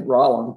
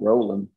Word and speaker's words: Rollin: Yeah, so my name's Rollin, not Roland. And it's kind of a Texas pronunciation for Roland.